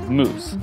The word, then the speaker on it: mousse: future moss growth now moss in French is actually pronounced moose so don't get confused